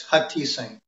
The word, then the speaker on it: Hutheesing: well at the intro it's hot teasing Oh what do you think yeah okay the H is silent it's like Kevin obtained